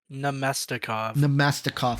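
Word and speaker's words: Namestnikov: I totally butchered that one. Yeah. Say it again for me so I can really get it. Namestikov.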